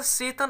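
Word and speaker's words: Tseten: Okay, his taxi driver सेतन, देखिएगा सेतन, अब इसमें टी साइलेंट है स्टूडेंट्स।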